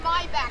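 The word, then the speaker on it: Maybach: And it's pronounced my back, by the way.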